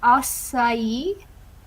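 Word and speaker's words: açaí: And apparently it's pronounced acai.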